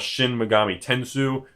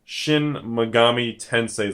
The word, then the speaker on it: Shin Megami Tensei: Some people call it Shin Megami Tensou, but I believe it's pretty much Shin Megami Tensei.